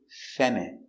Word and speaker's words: feminine: E F M fem I feminine M fe feminine I feminine feminine m feminine feminine feminine stress on the first syllable feminine feminine your dog